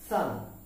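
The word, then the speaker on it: son: হচ্ছে এস ও এন আমরা এর উচ্চারণ করে থাকি সান বাট দ্যা ফ্যাক্ট ইজ এর উচ্চারণ হবে এস ইউ এন সান সূর্য সূর্যের যে উচ্চারণ যেভাবে করে থাকি এর উচ্চারণটাও সেভাবেই হবে এস ও এন থাকা সত্ত্বেও এস ইউ এন সান সেই সূর্যের মতই উচ্চারিত হবে তার মানে সান পুত্র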